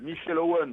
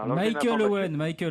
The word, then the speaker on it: Michael Owen: Michael Owen. Michel Owen, Manchester. Je dis à la française, il faut savoir, la française, la japonaise, qu'est-ce que vous voulez? Bah, comme ça se prononce. Michael Owen.